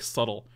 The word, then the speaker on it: subtle: It's like such a hard word to say. It's like subtle. Sometimes people make fun of, like, what are you saying? Subtle? S-U-D-D-L-E? And I'm like, no, I'm not saying that.